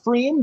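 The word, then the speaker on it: Pfriem: River Oregon it's pronounced freem the P is silent it's like when you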